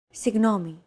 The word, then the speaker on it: Συγγνώμη: This character isn't pronounced using an English G sound at all. Γ. It's like a very soft, continuous, and loosely held G, almost as if you're gargling, but don't make it sound too throaty.